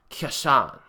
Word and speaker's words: Casshern: series from 1973 now I think the proper pronoun pronunciation is something like Kishan or something but I'm referring to it as Co sarin for our purposes here because it's far easier to pronounce that way so set in the